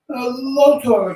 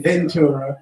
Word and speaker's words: Lotora: I'm almost calling you Ventura. Am I saying it right? Lotora, Lotora, or Lotora. Lotora. Okay. I'm so used to hearing Ventura. I know a lot of people mistakenly say that all the time, Lotora.